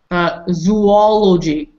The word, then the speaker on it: zoology: Zoology. Zoology. Bonnie. Maybe zoology. Double O. Zoology. Yes, double O. Double O. Zoology. Zoology. Zoo. Zoo is always with double O.